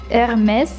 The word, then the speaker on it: Hermès: Она искала обивку Hermès. Французы именно так произносят эту марку.